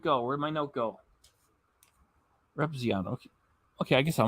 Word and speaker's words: Repzion: Oh, it's pronounced Repzion. Where'd it go? Where'd my note go? Repzion.